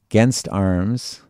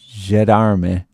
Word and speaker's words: gendarme: of, here's another one, against arms and spies, okay, and the against arms, I probably mispronounced that too, didn't I? Yeah, they call it a gendarme.